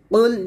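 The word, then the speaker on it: قُلْ: ওয়ালাম ওয়ালাম ইয়াকুল্লাহু কুফুয়ান আহাদ বিসমিল্লাহির রাহমানির রাহিম কুল ইয়া আইয়ুহাল কফ লাম পেশ কুল ইয়া খারা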